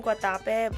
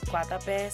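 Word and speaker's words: Guatapé: I was saying Guatape, but they pronounce it Guatape, so that's what I'm gonna do.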